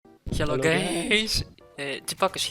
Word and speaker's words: GPAKOS: Hello Hello, guys, Chipakos here. Yes, that's how it's pronounced.